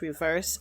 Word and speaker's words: REVERXE: Um, I'm going to be reacting to EXO's Reverse album. Um, I was so confused. I didn't know how to pronounce it at first because the X was right there.